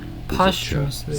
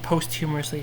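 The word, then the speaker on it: posthumously: Possly always a stress on the first syllable or sometimes say it as postumously. Postumously sound. Postumously what? Postumously. Postumously. Yeah. Postumously. Okay. I keep seeing that word. I keep saying posth humorously.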